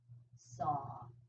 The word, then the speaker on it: Sa: Hong, it rhymes with song, and Sa, it rhymes with draw.